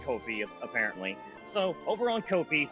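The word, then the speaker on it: Ko-fi: I've just pronounced it the way it was written, so I call it Kofi. Mama, it's pronounced Kofi apparently.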